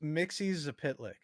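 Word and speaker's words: Mxyzptlk: It's pronounced Mixie Zapitlik.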